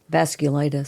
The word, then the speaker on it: vasculitis: clus vas vasus vas glus I think it's pronounced v c u l i t i s vasculitis thanks according to the National Health Council around